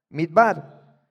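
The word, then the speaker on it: מִדְבָּר: Midbar, que curiosamente está relacionado con la raíz da bar.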